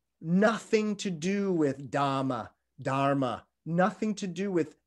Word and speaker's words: dharma: the side but actually in the medieval dialect these would have been pronounced much closer to dhamma or damo damu damo so the the